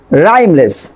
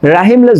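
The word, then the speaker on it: rhymeless: For example rheumatic, রাইমলেস। আমরা কিন্তু rheumatic বলবো না, যে রিউম্যাটিক মানে কিন্তু বাদগ্রস্ত। তারপর রাইমলেস, আমরা এখানে রাহিমলেস যদি বলি তাহলে কিন্তু রং হবে।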